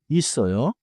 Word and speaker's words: 있어요: In natural speech, 있어요 is often smooth. 있어요 in pronunciation, but the spelling stays 있어요.